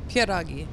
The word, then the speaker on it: pierogi: have to do that please pronounce the word pierogi for me because we talked about this before i can't produce that sound that you can pronounce with your i'm assuming you're polish right with your polish accent pieragi what wait so perogi with no s at the end which is pretty critical